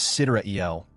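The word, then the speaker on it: Sideræl: Cedar ale pronounced as citra eel refers to the genuine time of the cosmos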